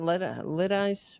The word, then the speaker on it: Lidice: How do you pronounce it? Lidice, where they completely razed the town.